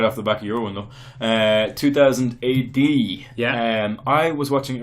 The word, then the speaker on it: 2000 AD: off error conversation sometimes when you're saying 2080 you put an extra syllable in I noticed it because you used so it's 2000 AD when when you're excited you say 2080 I noticed it when